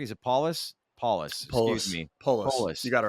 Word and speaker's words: Polis: provided by Colorado governor Jared Polis am I pronouncing his last name correctly is Apollos paulus you got it right yeah um he's indicating